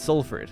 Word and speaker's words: Salford: But you're supposed to say it Salford, like S-U-L, but it is spelled S-A-L.